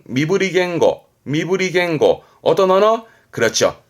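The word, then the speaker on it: 身振り言語: 하면서 뭔가 설명에 따라든 그러면 질문이요 이건 뭘까요 발음은 미브리 겐고 미브리 겐고 어떤 언어 그렇죠 바디랭귀지 몸짓 언어라는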